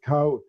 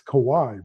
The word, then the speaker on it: Kawhi: he goes and he he says Kawhi First, he calls him Kawhi, then he calls him Kawhi, then he calls him Kawhi.